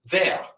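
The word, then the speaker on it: vair: But there is another word in French that sounds like the word for glass, spelled differently, also pronounced ve which means fur.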